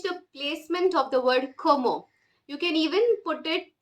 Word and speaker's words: comment: of the pronunciation of the word comment like in English we would read it as comment but and the spelling is also such but the French pronunciation is como como c-o-w-m-o something like that so much you say